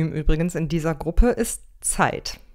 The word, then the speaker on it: Zeit: in dieser gruppe ist zeit da müsst ihr genau aufpassen dass z wird hier wie tee und es zusammen ausgesprochen ihr seid schon seit